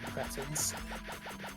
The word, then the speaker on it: cretin: yeah cretons you know I I know creton is the proper way to say it but I like creting more just because it sounds dirtier yeah but then you found